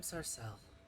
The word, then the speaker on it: Sarcelle: Can Her you name is spell that? Sarcelle.